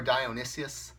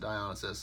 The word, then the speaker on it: Dionysus: like Poseidon Hermes Hephaestus dialysis or Dionysus however you people pronounce it I pronounce the dialysis and I'm not gonna